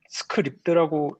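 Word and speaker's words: Scribd: 스크라이브드에 아 스크라이브드 서비스 아시나요?네 검색해 봤는데 일단 스크립드라고 읽는 거 같고요. 음. 스크립션 뭐 이런 것처럼 그냥 그러는 거 같고.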